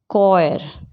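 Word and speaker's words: choir: उसी तरह से H कब साइलेंट होता है? जब वो C के बाद हो या फिर W के बाद हो, जैसे character, कॉयर, eco, take, chassis.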